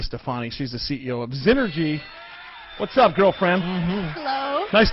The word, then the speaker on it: Xnergy: question for you so so first of all znergy correct yes okay so so because that's spelled with a with an X by the way Nails